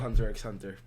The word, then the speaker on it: Hunter x Hunter: So, basically, the show is called Hunter x Hunter. Mm-hmm. And it, the X is silent, though.